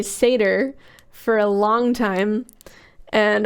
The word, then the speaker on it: Seder: fact I did not know how to say seder for a long time and always pronounced it satire because I learned how to read uh homeschooling